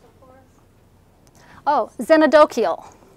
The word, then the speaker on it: xenodochial: So, can you pronounce it for us? Oh, xenodochial. Xenodochial.